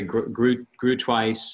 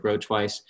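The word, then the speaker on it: Groothuis: some guys, Doug Grotwice, that's Grotwice. Doug, it's pronounced, some people say grew twice. I've heard it grow twice.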